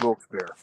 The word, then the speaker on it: Wilkes-Barre: names you can call it but it's it's pronounced wilkes-bear right you know but yeah people don't know